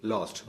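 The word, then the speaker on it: loose: നമ്മൾ ലൂസ് എന്ന് തന്നെ ധൈര്യം പറയണം ലൂസ് ലോസ്റ്റ് ലോസ്റ്റ് നഷ്ടപ്പെട്ടു ഇനി ലോസ് എന്നൊരു വാക്ക് വേറെയുണ്ട് അത് നമ്മൾ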